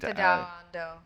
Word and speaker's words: Tadao Ando: Tadao Ando. Thank you. Yeah. You're so much better at the pronunciation than me.